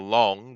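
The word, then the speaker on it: 龙: Therefore, we're not going to call it the year of the Long, which is how you say dragon.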